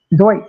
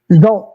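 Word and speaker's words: Zsolt: Let's just say it the way we say it. Sounds better. Zolt. I know that's not how they say it. They don't say Zolt, but him and all those guys were just fantastic.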